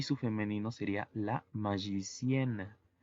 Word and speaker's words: magicienne: Y su femenino sería la magicienne. Sería agregarle una N y una E muda. Y la pronunciación cambia. Por ejemplo, mago, magicien y maga, magicienne.